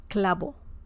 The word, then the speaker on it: clavo: But if you want to say this more like in a native way in Spanish, then just say it as B as in bell. Clavo.